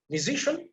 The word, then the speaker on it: musician: Then CIN, like musician, so CIN, again, you have to put emphasis on the second syllable. You have to memorize it.